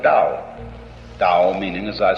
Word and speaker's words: Dao: Do is the Japanese way of pronouncing the Chinese word Dao.